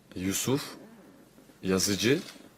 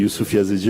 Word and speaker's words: Yusuf Yazıcı: comment on prononce ton nom pour pas faire d'erreur? Yusuf Yazıcı ama onlar hani farklı söyle belki yazıcı diyebilir. İyi ile söyle. C'est Youssouf Yazıcı, mais si vous le prononcez un peu Yazıcı.